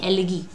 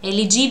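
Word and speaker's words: elegy: Funeral में गाते हो ना, उसको कहते हैं एलिगी। ठीक है, एलिजी भी कई लोग बोलते हैं, सो इट्स a noun, you can pronounce it in either way.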